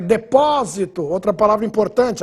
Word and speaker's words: depósito: adiante a próxima é depósito outra palavra importante agudo no o para você não ler deposito deposito é o verba seria paroxitono proparoxitono substantivo interessante a próxima